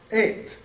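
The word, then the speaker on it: את: But here it is, tav, that's our T. So you would say et.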